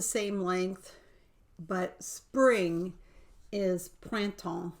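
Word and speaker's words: printemps: is about the same length but spring is pranton it's p-r-i-n-t-m-p-s t-e-m-p-s p-r-i-n-t-e-m-p-s so that's a lot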